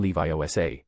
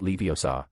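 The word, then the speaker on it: Leviosa: It's when Guardian Levi OSA, not Leiosa, not Levia something or other. Pronunciation matters.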